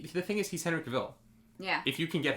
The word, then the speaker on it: Cavill: frankie means you're saying that cavill is pronounced like travel so it's but then